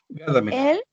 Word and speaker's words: Gadamer: Gadamer. Este sí se pronuncia como se escribe.